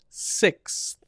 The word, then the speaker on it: sixths: So you have to go from S to S. So you're going from S to TH to S. 6. That's which is correct. It's the right pronunciation.